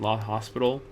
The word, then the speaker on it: L'Hôpital: And the fifth one, the one that is the hardest for us to reach right now, is called L'Hôpital's rule. L'Hôpital's rule, sometimes written and pronounced La Hospital.